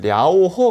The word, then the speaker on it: 랴오허: 그 강이 하나 있는데 중국의 요화 강이라고 또는 중국 발음으로 하면 랴오허 강이 있어요 그래서요 요화 강을 중심으로